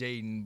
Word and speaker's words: Jaedon: It's pronounced Jaedon, but it's 3 teammates named Jaedon on my team last year, so that's why it got changed to Jaedon.